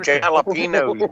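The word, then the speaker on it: jalapeños: They're jalapenos, man. Jalapenos. Yeah. Jalapenos. I'm from the north. No, the J is silent, like in Jesus.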